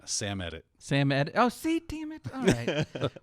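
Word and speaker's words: Samedit: the vulnerability named baron seemed it nicely done impacts most linux distributions today did i pronounce that wrong yes aimed it yeah i would go with uh sam edit sam ed oh see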